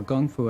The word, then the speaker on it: kung fu: that comes from China kung fu or Gung Fu as it's sometimes pronounced is a Chinese word